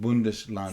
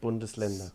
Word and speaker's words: Bundesländer: 16 Bundeslanden. 16 Bundesländer.